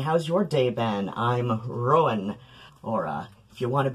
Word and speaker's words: Ruadhán: The, second syllable in, Rowan should probably be Ruan, but I'm usually, like, just trying to aim for, like, what most people will adjust to, okay? Like, I can guarantee you, if I lived in a Gaeltacht region for more than a day, or, you know, like, and was, like, actively living there, I'd probably put extra emphasis on the second syllable.